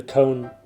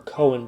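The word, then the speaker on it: Coen: one is blood simple by the cone brothers or cohen brothers i've heard it pronounced both ways conan cohen so this is from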